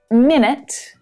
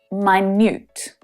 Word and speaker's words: minute: the same exact letters can be pronounced in a completely different way, like minute and minute, very, very small.